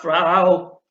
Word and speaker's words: Frau: I refuse, I am not, oh Gott, Frau. That rhymes with ow and sow and cow and even frown.